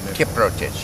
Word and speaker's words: Kiprotich: Say it again. Kiprotich. Yes. Okay. So the O is emphasized a little bit. That's the recollection. Kiprotich.